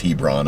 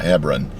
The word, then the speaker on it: Hebron: And I think it's Hebron and and not Hebrron.